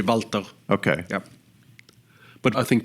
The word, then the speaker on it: Walter: Strictly speaking, it's Walter. The German pronunciation would be Walter. Okay. Yeah. But I think we said Walter. Most people say Walter.